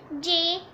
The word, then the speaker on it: JPEG: It is pronounced as JPEG.